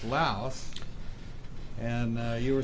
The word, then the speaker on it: Laos: of Khe Sanh, and we went on the aggressive, they call the aggressive move, that we're going to go into Laos.